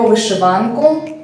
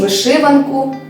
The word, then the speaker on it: вишиванка: Сьогодні про вишиванку або ж вишиванку. То як правильно? Слово вишиванка має подвійний наголос, тому правильно обидва варіанти.